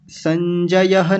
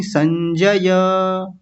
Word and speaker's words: संजय: संजय नहीं, संजय।